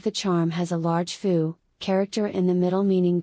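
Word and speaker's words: 蝠: flying bats a bat foo is a visual pun for good fortune or happiness foo because both characters are pronounced the same and the right part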